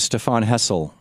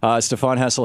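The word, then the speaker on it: Stéphane Hessel: And we're talking with Stephane Hessel. Am I pronouncing everything right here, sir? Yes. Okay. Stephane Hessel, his book is Time for Outrage from 12 publishers, and it's in bookstores now.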